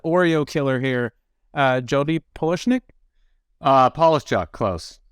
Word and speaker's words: Polishchuk: Polishchuk, close. Polishchuk.